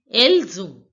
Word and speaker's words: Elles ont: See, this word else ends with the consonant S, and the second word on begins with the vowel O. So S will become Z.